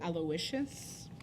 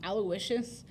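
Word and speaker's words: Aloysius: would be aloicious so you add the W sound when it's a girl and there's no W when it's a boy aloicious versus aloicious um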